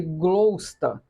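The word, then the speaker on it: Gloucester: pequena cidade chamada glossester a pronúncia seria glosta fundada pelos Romanos em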